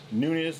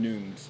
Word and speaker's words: Nunes: the same thing you're you're actually pronouncing it in the Portuguese way oh song by yeah okay so yeah noons is how it's supposed to be pronounced it's a silent Nunes is how we pronounce